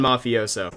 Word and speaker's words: mafioso: on the mafioso there's a couple different ways that you could pronounce this gun I've settled on mafioso see this is why